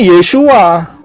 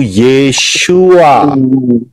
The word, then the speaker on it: Yeshua: Ya benar, karena orang Israel ngomongnya Yeshua. Nah, kita enggak, huruf kita kan enggak pakai Yod, Shin, Waw, Ayin. Huruf-huruf kita ini pakai abjad A, B, C, D, E sampai Z. Dan itu mewakili suara daripada Yod, Shin, Waw, Ayin, yaitu Yeshua.